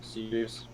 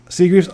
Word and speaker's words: Seagreaves: Being last name Kokorowski, I always like making sure I got the last name pronounced right. Yeah, you got it pretty well, Seagreaves. So Seagreaves, awesome.